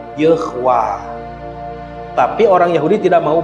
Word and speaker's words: Yahweh: Padahal tidak ada bacaan Yahweh. Ini huruf, ini tanda baca E, ini tanda baca A panjang. Jadi bacanya Yehwah.